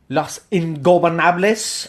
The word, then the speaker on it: Los Ingobernables: Say it for me, because you can pronounce it better. Los Ingobernables.